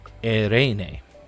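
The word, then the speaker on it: εἰρήνη: So, you just you can say it whatever you want, but I've been told it's been pronounced erene.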